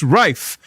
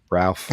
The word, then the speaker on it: Ralph: do you pronounce pronounce raife or Ralph asks boom a dog he says I never really Ralph I never really understood it I guess it's Posh raife is very Posh isn't it Ian he is very